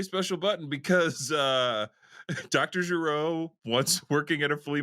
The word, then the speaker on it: Gero: card uh gero refurbishments it's pronounced gero my who cares and